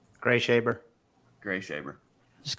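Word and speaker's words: Greashaber: Gree Shaber? Gray Shaber.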